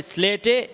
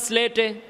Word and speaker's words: স্লেটে: ওস্তাদ বলবেন আপনারা সকলে স্লেটে এভাবে একটি আলিফ লিখে কি বলবেন আপনারা সকলে স্লেটে এভাবে একটি আলিফ লিখুন সিলেটে না স্লেটে উচ্চারণটা কি হবে স্লেটে আপনারা সকলে স্লেটে এভাবে